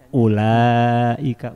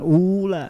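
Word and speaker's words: أولئك: itu ada waunya tapi menurut ilmu rasem wau yang ada pada ulaika tidak perlu diucapkan tertulis dalam mushaf tapi tidak perlu diucapkan maka bacanya ulaika bukan ula nah ini ilmu rasep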